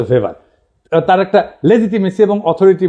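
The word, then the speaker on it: Weber: আর একজন দার্শনিক আছে ম্যাক্স ভেবার, এটা ওয়েবার বলে অনেকে, এটা উচ্চারণ আসলে ভেবার।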